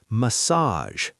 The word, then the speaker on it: massage: Now the other word, massage. Massage. Stress is at the end, and the G sounds like a soft J.